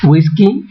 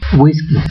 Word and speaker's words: whisky: provenientes de lenguas extranjeras si provienen del inglés se pronuncia como u y como G whisky whisky si provienen del alemán